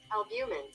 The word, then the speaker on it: albumin: Albumin. Yeah, I said it right. Damn, I be down myself. Y'all, look. Albumin. So it is albumin.